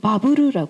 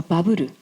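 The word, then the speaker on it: バブル: 일본이 화랑이었다 이었어 그래서 일본어는 바브라 합니다 버블 버블 어 발음이 안 돼요 일본어는 그래서 바부르 버블 아 이게 모든게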